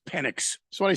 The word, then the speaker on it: Penix: Come on, Michael Penis Jr. You can do it. It's Penix.